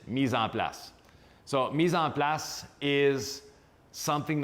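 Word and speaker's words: mise en place: everything has a place in French it is Misan plus so Misan plus is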